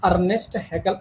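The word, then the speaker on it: Ernst Haeckel: या आर्न आर्न आर्न देखो इस प्रोनाउंस अर्नेस्ट हेकल अर्नेस्ट नाम से करते हैं ठीक है हेकल अर्नेस्ट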